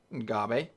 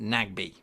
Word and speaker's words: Nagbe: Ngabe. Sorry. I've actually been told that his name is not Ngabe. It's pronounced Nagbe.